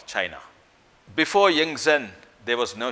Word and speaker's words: Qin: In 200 BC, there was no country called China. China then was divided into small kingdoms, fiefdoms, and it was not united. There were warring states in China. In a small feudal state called Qin, pronounced Chin, the feudal lord or